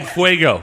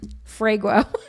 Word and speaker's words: fuego: Ask Jason to say fuego. He just tried. Fuego. Thank you. Did I say it right now? Yes. Now ask her to say the word. Frago.